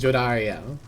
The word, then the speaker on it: Jodariel: too uh and then jodariel Jarel ah it's nice that we finally get to hear how it's pronounced and I was right it is Jarel as you will all